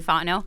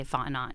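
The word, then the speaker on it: Fontenot: change that so I think that's why Terry fno I got it I kept wanting to say f not but it's not that the tea is silent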